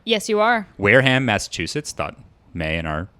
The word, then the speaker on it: Wareham: briggs who was born in wareham am i pronouncing it right yes you are wareham massachusetts thought may and our massachusetts listeners would